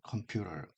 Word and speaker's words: computer: 컴퓨터라고 이제 보통 하지 않고 컴퓨터 역시 마찬가지로 아, T라는 이 발음이 모음과 모음 사이에 앞에 있는 모음에 강세가 있는 경우 R 형태로 리을 형태 발음 바뀌는 형태에서 컴퓨터를 turn on the computer, turn off the computer.